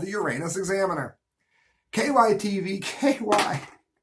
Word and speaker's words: Uranus: the tourist town of Uranus which is pronounced the way any self-respecting class clown would say it so so much for the Uranus Examiner Uranus it's along route 66